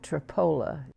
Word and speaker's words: Tripoli: english in history in a little town called tripoli only they pronounced at tripoli then i'm lying in